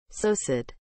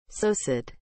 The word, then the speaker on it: psocid: what is the meaning of the word so sit as a noun small winged insect living on the bark and leaves of trees and feeding on for example fungi and decaying plant matter sosid is spelled p s o c i d